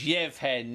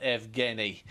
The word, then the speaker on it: Yevhen: And looking, just to say that we are aware that these are Ukrainian pronunciations, so it's Yevhen, not Evgeny.